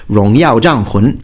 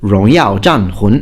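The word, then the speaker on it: 荣耀战魂: And just to give you a little bonus there, For Honor in Chinese is actually pronounced Rongyao Zhanhun. That's how you say it. Rongyao Zhanhun.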